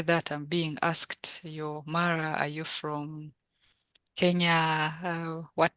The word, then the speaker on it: Mara: really Ma pronounce it, because it's not Mara. I'm saying it in English. Yes, say it in actually. Yes, so in Acholi it's pronounced Mara.